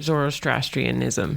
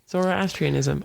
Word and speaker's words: Zoroastrianism: But unfortunately, all forms of religion are wrong, except for Zoroastrianism. You butchered that. I know. Zoroastrianism, obviously.